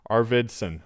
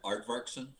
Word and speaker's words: Arvidsson: sarah's last name our arvidsson arvidsson arvidsson the art aardvarkson is how you pronounce it arvardson aard varsin it's like kind of like the animal but it's a-r-v-i-d i know i'm just